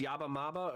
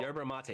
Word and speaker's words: yerba mate: stuff type in yeah it's yabba maba or what is it it's called yerba mate yeah i butchered that yerba mate type in yerba mate